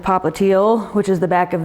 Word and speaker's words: popliteal: telling you is that calcaneal rhymes with heel and it's your heel which rhymes with popliteal which is the back